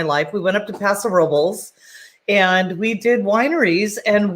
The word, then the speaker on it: Paso Robles: days of my life we went up to paso robles and we did wineries and we had a